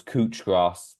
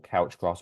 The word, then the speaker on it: couch grass: it all the time was cooch grass was everywhere in our or couch grass however you want to pronounce it was everywhere on